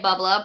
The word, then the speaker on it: bubbler: we don't add an R in Boston where I'm from, so we say bubbler, but Bubbler.